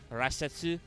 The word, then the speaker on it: Rasetsu: in japanese i guess i guess technically the pronunciation is rasetsu this is right yeah